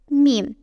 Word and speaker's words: Mim: Mim. The letter that looks like a mini circle with a straight line coming down. It is pronounced like the M in moon.